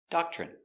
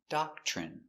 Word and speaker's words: doctrine: Pronunciation, doctrine. d d a da k doc ch doc ch Remember when you have t r together, it makes the chicken sound, ch.